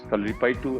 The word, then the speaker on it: Kalaripayattu: Where do you want to take the art of Kalaripayattu to, if I'm pronouncing it right or not? Thank you. You've done a great job with it. Yes, Kalaripayattu or Kalaripayattu.